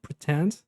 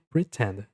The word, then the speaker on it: pretend: Aí a palavra pretend, a pronúncia pretend. Aqui tem um som de I na pronúncia. Pretend.